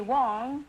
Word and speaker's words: Wang: I'm so smart huh is that how you pronounce it uh Wang well the Chinese call me Wong Wong and the Korean call me Huang and the Americans call me Huang but I my name is Huang wow I may be